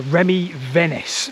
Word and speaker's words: Remy Venice: So there's a co-author of this paper, Remy Venice, that's how you pronounce his name.